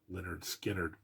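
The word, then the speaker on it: Lynyrd Skynyrd: definitely deserve a best album nominee for again pronounced Leonard skinnard I love this album it is the self-titled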